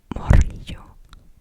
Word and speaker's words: morrillo: You might also hear it being said as morrillo. Morrillo. Morrillo. And you spell that as M O R R I L L O.